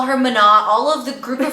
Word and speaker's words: Munnat: Her first name, so it's spelled Munnat, and it's technically pronounced Munnat.